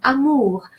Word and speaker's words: amour: And the final R is an exception to the rule of thumb I just mentioned. So the rule of thumb states that the final consonant is silent. But in this particular case, R is pronounced amour.